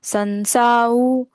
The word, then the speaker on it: संसार: संसाउ बंधना।